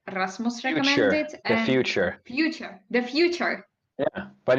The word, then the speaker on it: Futur: The future. Yeah, but it's spelled without an E, so it's the Futur.